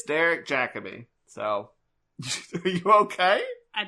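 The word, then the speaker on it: Jacobi: I heard it in the Doctor Who confidential and was like, I've been mispronouncing it as Derek Jacobe. It's Derek Jacabe.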